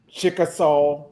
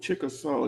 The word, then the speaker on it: Chickasaw: okay it's uh 404 West chcka West what Chickasaw Trail Chickasaw yeah chcka Trail how you spell that uh c h i c k a